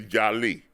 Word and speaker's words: jali: The true West African term for an important storyteller is jali. J A J A L I but it's pronounced Jali.